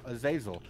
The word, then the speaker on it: Azazel: break my bond with azazel uh zazel yeah is that really like the how it's pronounced yes it is oh really yes i've always wondered okay i guess i know now azazel and then he would